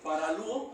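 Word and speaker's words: παραλύω: Paralítico en el griego es paralúo, acento en la U.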